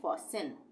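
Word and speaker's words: fasten: ए एस टीई एन तो इसको हम पढ़ेंगे फसन फसन फन नहीं पढ़ेंगे फसन फन का मतलब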